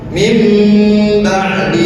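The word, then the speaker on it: من بعد: Yang terakhir, cara membacanya ditahan dua ketukan. Min ba'di ma jaa, min, dua ketukan saja. Min ba'di ma jaa, itu untuk iqlab.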